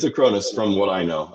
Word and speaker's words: Acronis: Is it Is it Acronis or Acronis? Acronis. I thought Okay. Acronis. Not Acorns. Not Acornis. Not Cornies.